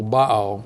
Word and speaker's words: Baal: the worship of Baal let me say a word about by because her I usually accident the first syllable bow ok it's it's a word